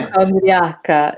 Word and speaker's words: hypochondria: Okay, Hypochondriaca in English. yeah. Do you know, or does anyone know in the chats? What does it mean also? So yeah, hypochondria is the pronunciation in English, Mm, right?